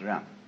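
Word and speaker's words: jen: In Confucius philosophy, the fundamental virtue of a human being is called Ren, spelled J-E-N for reasons best known to Chinese scholars. I don't know what they are, but it's pronounced Ren.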